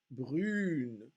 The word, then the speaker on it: brune: So the fact that this E at the end of the word, which is actually a mute E, and you don't hear that syllable, it's not a full syllable, une, brune.